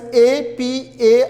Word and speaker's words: apartheid: speak it out like, the spelling is A-P-A-R-T-H-E-I-D. But how it is pronounced, how we speak out or how we spell out is apartheid.